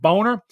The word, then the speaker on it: Boehner: Republican Senate leaders at the time, including 2012 presidential nominee John McCain and Speaker of the House John Boehner, that's exactly how they pronounce it, Boehner, were visually opposed to Snowden's disclosure of classified information.